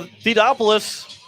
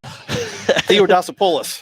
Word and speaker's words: Theodosopoulos: So Theodopoulos, however you say his name. Theodosopoulos. There you go. That's how I'm saying it.